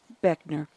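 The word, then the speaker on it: Buechner: officer veteran officer William will ray Beckner Jr pronounced Beckner following a visitation period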